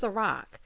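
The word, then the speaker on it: Cîroc: Girl, Taj said, it's Ciroc.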